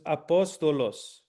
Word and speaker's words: apostolos: The first syllable is a, the second syllable is po, the third syllable is sto, the last one is los. So it's apostolos. And the emphasis on this one is apostolos. Where's the emphasis? Po. Cool.